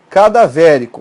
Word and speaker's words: cadavérico: Por exemplo, cadavérico. Olha a separação. Cadavérico. Qual é a sílaba tônica?